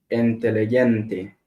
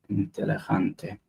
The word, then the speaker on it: inteligente: The letter G is pronounced H as in hen when it appears before E or I.